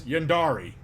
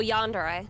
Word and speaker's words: Yandere: Yes, Yandari. Is that how I pronounce it? Oh, Yandere. Yandere.